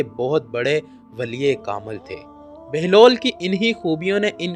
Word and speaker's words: بہلول: سے واقف ہوں گے۔ بہلول کی بے پر پیش اور ہے پر جزم ہے، جس کی وجہ سے اس کا اصل تلفظ بہلول ہے، جس کے معنی ہنس